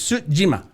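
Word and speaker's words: Tsushima: uh ghost of yeah sushima suima yeah it's pretty she told me how to pronounce it and I believe it's Su Jima okay Jima means Island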